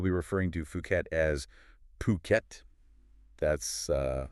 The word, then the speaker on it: Phuket: And just for clarity up front, we'll be referring to Fuket as Phuket. That's uh how you'll often hear it pronounced locally.